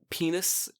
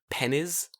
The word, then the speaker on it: penis: The other one is penis, which they like saying because they find it in dictionaries, but they always pronounce it as pennies.